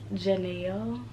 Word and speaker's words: Janelle: No, it's Janelle. Kind of like Chanel, but with a J.